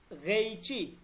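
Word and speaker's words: قیچی: একটা জ্যামিতি বক্স এক গেইচি গেইচি মানে হচ্ছে কেচি গেইচি ওকে গেইচি এই যে কফটা এটা কফ উচ্চারণ করবেন না কফ গয়েন এই দুটার মাঝামাঝি এক গেইচি व একটা কেচি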